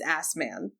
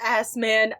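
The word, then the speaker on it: Assmann: SS M A NN how else do you pronounce that it's assman it's assman I feel so such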